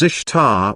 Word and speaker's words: Ishtar: semiramis became known as ishtar which is pronounced easter and her moon egg